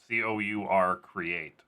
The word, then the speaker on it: CourCreate: And it's pronounced CourCreate. CourCreate, like as if it was CORE. But it's not.